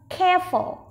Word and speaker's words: careful: Trọng âm rơi vào âm đầu tiên, vậy mình sẽ nói to âm đầu tiên nhé. Careful, careful, careful.